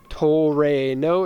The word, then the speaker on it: Trueno: so many comments here so in 1986 sprinter Trueno toll rain oh if you were wondering about the pronunciation okay 1,600 cc engine the seller doesn't